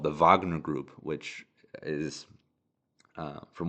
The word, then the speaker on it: Wagner: life Russian mercenary group the VA or Wagner Vagner group is it's pronounced uh that uh was fighting